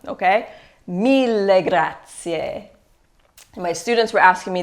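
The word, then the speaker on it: mille grazie: in English me Gracia so remember an Italian it's super important to pronounce all of the vowels there are no silent vowels so when you see vowels at the end of words you always pronounce them okay Mila Grazia my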